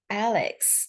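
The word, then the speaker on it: AIX: rapidly advancing technological World meet AI X pronounced Alex the friendly algorithm AI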